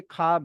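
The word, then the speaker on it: خواب: अलिफ आ रहा है तो व्हनेवर दी थ्री केम एक साथ कि खे वाव और अलिफ तो वहां पर वाओ साइलेंट हो जाएगा वहां वाव की साउंड नहीं आएगी। वहां पर खे के बाद डायरेक्टली अलिफ की साउंड आएगी।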